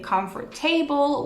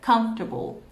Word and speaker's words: comfortable: mispronounce this word saying comfort table or comfortable but it's not correct in this case you only have to pronounce to separate this word into three syllables okay the first is